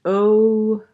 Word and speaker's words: ogive: That word ogive is pronounced o-jive. Ogive.